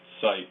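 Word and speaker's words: сайт: So it's pronounced site, but it's spelled that way in Cyrillic there.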